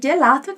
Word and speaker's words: gelato: Então, repara como eu pronunciei gelato, eu não falei gelato, ok? É gelato, como se fosse um D e um J ali junto, né?